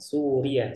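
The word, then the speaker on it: سوريا: suriyatun ana min Suria jadi kalau kita bilang Suria ianya itu gak ada tasdid cara bacanya Suria seperti itu ya Su bab Alan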